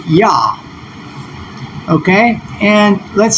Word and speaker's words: Yah: is being used, but it's mistranslated as Jah, which is actually a transcription. It's mistranscribed. And so if we were to tap and go to the Hebrew to see what those original Hebrew letters are, we can see it here. It's just simple YH. And if we were to add the semivowel in there for a transcription, then we have Yah.